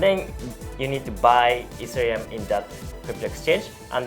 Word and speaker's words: Ethereum: Also, the correct pronunciation will be Ethereum. Ethereum? Yeah, Ethereum.